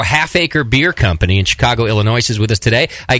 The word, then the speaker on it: Illinois: beer company in Chicago Illinois is with us today I guess uh Illinois don't pronounce the S you dummy uh I